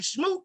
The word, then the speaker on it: Smoot: and boo me luckily my name shmoop sounds like the word boo so it never bothers